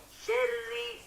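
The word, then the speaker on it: شرّ: Oke, kemudian pada huruf ro-nya ya jamaah ya, syarri, syarri, ro tasydid, jangan sampai dibacanya itu ditebalkan, jangan dibaca syarri, syarri, tetapi dibaca tipis, syarri, syarri.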